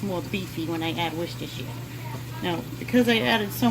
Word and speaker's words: Worcestershire: And that is the correct way to say it, Worcestershire in a Boston accent.